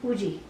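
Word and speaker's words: Woozi: So a lot of times if you actually listen to the way they pronounce it, it's Uji. aw. And so I will probably still call him Woozy because Uzi.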